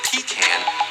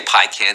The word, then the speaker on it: pecan: According to the dictionary, both of these pronunciations are fine. You can say them either way or either way, just like you can say pecan or pican. It's both. No, don't say pican. Say pecan.